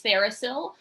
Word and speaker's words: TheraPsil: who or what is thericill um so the the title of our name kind of breaks it down thera as in therapeutic and still the p is silent as in psilocybin um so we're a